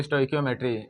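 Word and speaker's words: stoichiometry: है स्टोइकियोमेट्री स्टो जमेट्री इसको स्टोइकियोमेट्री जो बोलना आप प्रोनाउंस कर सकते हो हम तो यहां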